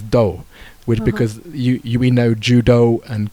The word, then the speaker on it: 道: I think English speakers probably know the Japanese reading of 道 which is ‘do’, because we know hudo and kendo, aikido.